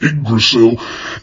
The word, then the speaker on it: Yggdrasil: Well, if you saw it written down, you probably would say it wrong. I know I did the first time that I saw it, but Yggdrasil is a gigantic heavenly tree.